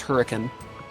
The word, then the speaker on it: Hurricane: We have a town spelled hurricane, pronounced hurricane.